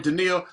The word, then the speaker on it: Deneil: Now, Deneil, am I pronouncing that right, Deneil? Yep, that's right. Yep. All right, Deneil, we always ask this of all our guests.